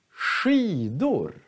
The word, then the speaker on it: skidor: Men SKI, sh, skidor.